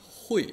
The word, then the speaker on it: 会: Nah, tadi hui, ini adalah hui, bacanya keempat.